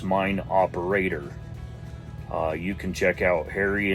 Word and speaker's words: Mine Operator: In the video, I mispronounced it and said Mine Operators. That's not correct. It's Mine Operator.